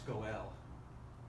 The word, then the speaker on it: Goel: No, it's Goel. It's O-E. The Goel is what the term is in Hebrew.